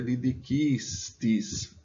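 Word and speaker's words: didicistis: Só que se a gente desconsiderar o né, como não existe nenhuma palavra oxítona em latim, você tem que a sílaba tônica é didiquistis, aprendestes. Por que isso?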